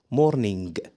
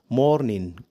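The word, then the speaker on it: morning: مش بتنطق صح بتنطق غلط ما اسمهاش مورنينج مورنينج لا لا لا تعال اقولك نطقها صح ازاي طبعا احنا عندنا سفيكس اللي هو اي ان جي لو جه في اخر الكلمه حرف الجي مش بيتنطق بنطق اي ان بس يعني كده الكلمه اللي احنا قلناها تتنطق مورين مورين مورين جرب كده ممتاز وفي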